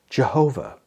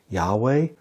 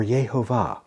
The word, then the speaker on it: Yahweh: Some people say that it is pronounced Jehovah. However, there is no J sound in Hebrew. The first letter, Yud, has a Y sound, so two likely pronunciations would be something like Yahweh or Yehovah.